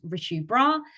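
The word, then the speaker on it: Richu Brar: My name is Richu, and you can follow me on Instagram at Richu Bra. That's spelled RICHUBRAR.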